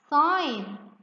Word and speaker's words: sign: Sign. Let's match it to the letter G. What's the silent letter here? The consonant silent letter is letter G.